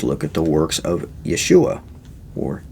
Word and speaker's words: Yeshua: spirit then just look at the works of yeshua or yahshua as it's sometimes pronounced just talk about how he braided a